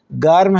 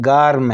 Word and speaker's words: گرم: آپ ذہن میں رکھیں کہ جس وقت ہم اردو زبان میں اس کا تلفظ کرتے ہیں اس لفظ کا تو ہم کہتے ہیں گرم، تو لیکن فارسی زبان میں گرم نہیں ہے، گارم ہے.